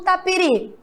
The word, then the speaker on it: tapiri: ot jabuti e não tapiri vamos lá tapiri qual é o seu mais forte URI muito bem isso mesmo a sílaba mais forte agora é a última os do jabuti e